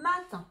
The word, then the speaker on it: matin: Maintenant, on va écrire le mot matin. Alors, le mot matin, c'est très simple. C'est deux syllabes, d'accord? Ma et tin. Comme ça se prononce, c'est le 1 de indien.